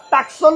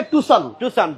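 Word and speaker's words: Tucson: অনেকেই বলি টাকসন অনেকেই টুকসান টাকসুল টুকসুন যেভাবেই খুশি ডাকেন সঠিক নাম হচ্ছে টুসান হন্াই টুসান এখানে সি এর উচ্চারণ হবে না সো যাই হোক কথা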